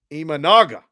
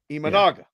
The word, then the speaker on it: Imanaga: say sh Monica I said sha no eaga imanaga imanaga imanaga imanaga write that down Dave e that